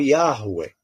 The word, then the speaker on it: Yahweh: Yahuwah ou Yahweh. São as duas pronúncias mais aproximadas.